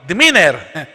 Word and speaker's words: demeanor: Ang unang-una po, the demeanor. Ang pagbigkas po pala dyan, demeanor, hindi demeanor.